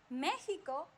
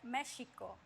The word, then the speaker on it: Mexico: ancient value don't forget in the past many years ago the eggs used to be pronounced as sh so it would be like mexico right mexico in mexico